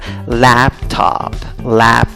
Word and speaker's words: laptop: ¿Cómo pronuncias la palabra? Laptop.